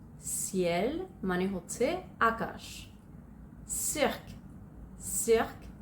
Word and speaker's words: ciel: সো সির পরে যদি ই আই বা ওয়াই থাকে তখন সিটার উচ্চারণ হবে অ্যাস এর মতো।